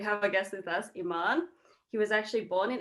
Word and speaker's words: Eeman: So my name Eeman, pretty similar to Iran.